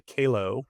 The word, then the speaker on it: Kahlow: This week, I'm very excited to welcome Amanda Kahlow, rhymes with J-Lo, the CEO and founder of OneMind to the show.